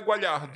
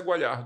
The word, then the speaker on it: Guagliardo: Mas a pronúncia italiana é Gualhardo, né?